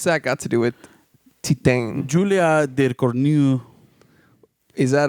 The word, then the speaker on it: Titane: Is that the correct pronunciation? Titane.